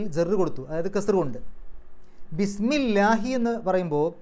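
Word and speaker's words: بِسْمِ اللهِ: അല്ലാഹുവിൻറെ നാമം അല്ലാഹുവിൻറെ പേര് പക്ഷേ ബി വന്നതുകൊണ്ട് ഇസ്മു എന്നുള്ളത് ബിസ്മി എന്നായി അപ്പൊ ബിസ്മി എന്നാകുമ്പോൾ ള എന്നുള്ള ഉച്ചാരണം പോയി ലാ എന്നാകും ബിസ്മില്ലാഹി എന്നായി അവിടെ ലാഹി അവസാനത്തിൽ കസർ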